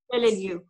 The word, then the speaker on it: Peleliu: she works, among other things, on the USS Peleliu. Am I pronouncing that? Yes. Peleliu.